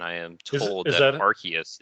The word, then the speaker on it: Arceus: am told is that Arceus is the the correct pronunciation because and and I'm not kidding about this uh it was changed because it sounded too much like arse EOS and that was becoming a joke in Europe I don't know how true